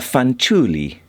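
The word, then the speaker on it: Fanciulli: this is a a fanuli I think is how it's pronounced it's Italian and it is uh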